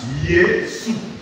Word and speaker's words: Yesu: Donc, dès qu'on verra Jésus, ça se lira Yesu.